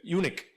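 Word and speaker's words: eunuch: UNEC. UNEC. UNEC. Sí, UNEC. No, no se no se escribe U, pero se pronuncia UNEC.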